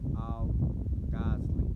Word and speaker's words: al-Ghazali: Imam al-Ghazali. Yeah, that's how you pronounce it.